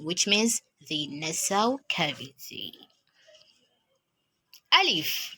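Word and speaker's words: ألف: Alif, as I said in the last video, is pronounced as a, while Hamza is pronounced as a.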